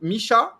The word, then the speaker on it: Misha: guys of course um Misha uh we I pronounced your name properly Misha that's perfectly fine yeah so Misha what's